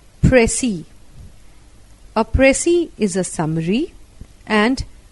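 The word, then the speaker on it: précis: pressy writing 32nd apressi a French word pronounced and as pressi oppressi is a summary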